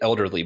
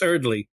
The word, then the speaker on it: Earley: say his name wrong I always want to say elderly but it's is it well it's it's Earley and you remember Matt